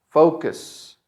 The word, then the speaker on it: focus: The stress is in fo. And then the second part is going to be cus. Focus. Focus.